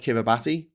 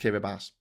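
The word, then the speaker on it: Kiribati: I absolutely love the fact that their ti in their words is pronounced as an S. So it looks like kiraabati but it's pronounced kirabas.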